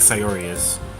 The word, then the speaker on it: Sayori: aimlessly cheery like surgeries say it like Sai aureus it's sincere and bittersweet